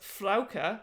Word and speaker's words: Frauke: is a frog fraga german name pronounced flauker derived from frau lady